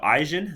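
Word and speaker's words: Ajzen: All right, so Eisen, that's this guy, that's how you pronounce his name, and Fishbein, that's the other guy.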